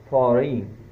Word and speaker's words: foreign: Next word, foreign. F-O-R-E-I-G-N, foreign. This G is again before N, letter N, so it is not pronounced.